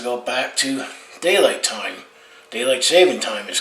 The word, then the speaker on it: daylight saving time: Daylight saving time is called. Everyone mispronounces it as daylight savings time, but the official name is daylight saving time.